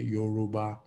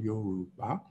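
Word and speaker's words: Yorùbá: trying to pronounce it would say Yoruba, which is not how it's pronounced. But the tone mark on the U is a low tone. The one on the A is a high tone, Yoruba.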